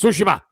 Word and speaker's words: Tsushima: G of sushima okay and that's how you pronounce it by the way it's sushima so anyways the point is this if I